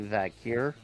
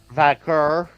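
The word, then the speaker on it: Vaquer: Well, I'm thinking Roxan Perez or Stephanie Vakir. Still mispronouncing the name. Vakur. Vakur. There. He got it.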